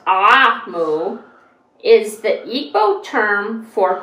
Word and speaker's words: Omu: cover it says notes to the reader Ramu pronounced ah mu is the Eco term for Queen an ebow